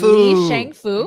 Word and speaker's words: Li Shangfu: was asking let me see if I can pronounce his Li name right. Shangfu. Li Shangfu, Yes, you're the right.